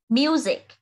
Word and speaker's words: music: Bởi vì các từ còn lại phát âm chữ S đều là S. Còn từ music là âm Z ạ.